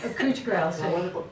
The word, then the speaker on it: couch grass: she's raised still wonder thing called couch grass or is it cooch grass cooch grass couch cooch grass yes how do you spell